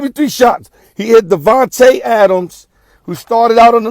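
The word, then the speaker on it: Davante Adams: you gotta give me three shots he hit Devonte Adams who started out on the left side ran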